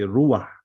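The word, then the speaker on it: רוח: if there's a he someone teaching you Hebrew from the West he will say but we say ruwa so this is the right biblical pronunciation Elohim they Amar Elohim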